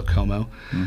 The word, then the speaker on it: Chomout: So, s h c h o m o u t but um it's pronounced with a lot of silent letters. So, Como, but the uh I think the that's the best spot to go find that.